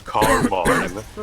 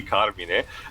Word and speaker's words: Carmine: Yeah, in the meantime, actually, Lives, I found, it's actually me interested, I found, sorry, when the game pronounces Carmine, even though it should be Carmine, the actual voice actor, Michael Goff.